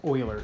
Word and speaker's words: Euler: all right lesson 4.4 Euler circuits that word is pronounced Euler ger that is the name of a famous